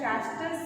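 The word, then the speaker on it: Schachter: Cognitive theory में इसलिए चैस्टर and singer है, CHACHER, spelling is चैस्टर एंड S is silent over here, so it is known as Chastel Singer.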